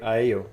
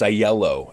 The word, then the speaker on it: Aiello: the year with a really good friend Joy AO did I pronounce the surname correctly it's the uh it's aello actually with the yeah yeah silent L's you